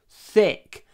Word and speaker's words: thick: sauce is very thick remember thick you need to open your mouth th th not th th with if your mouth is closed it will sound wrong maybe it will sound